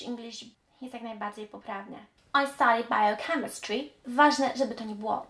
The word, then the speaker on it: bio: wątpliwości jest to przedrostek bio jeżeli chodzi o ten przedrostek nigdy nie powiemy bio bi biochemist bi bi czy nawet biography Pamiętajcie zawsze będzie bi jest różnica między bri